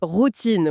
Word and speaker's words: routine: Le mot routine, par exemple. Ça s'écrit pareil en français et en anglais, mais un créateur dira pas « voici ma petite routine ». Il va adopter une mélodie très nord-américaine et dira « voici ma routine ». Routine, oui, en appuyant sur la deuxième syllabe.